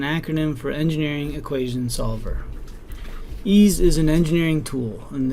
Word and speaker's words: EES: EES which is pronounced ease is an acronym for Engineering Equation Solver ease is an engineering tool and therefore the variables